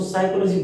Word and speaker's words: psychology: साइकोलॉजी PSYCHOLOGY, इसकी spelling P से start हो रही है, इसको साइकोलॉजी बोलते हैं।